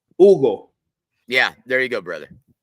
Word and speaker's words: Hugo: Um, you don't pronounce the H in an Hispanic surname or first name. It's Ugle. Ugle.